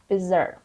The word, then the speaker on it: bizarre: start with the word bizer bizer it's an adjective and it means very strange or unusual odd simply you can say odd the stress is on Z the next word here